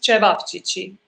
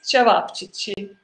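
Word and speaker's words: ćevapčići: So it's pronounced cevapcici. If you Oh. want to challenge your tongue, it's cevapcici.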